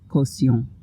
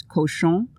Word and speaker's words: caution: And in French, it's the same word as caution in English, but it's pronounced caution. And my pronunciation wasn't good at that point.